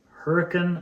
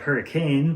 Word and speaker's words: Hurricane: George or in Hurricane or Lavercan. So Hurricane looks like hurricane, but it's pronounced Hurricane.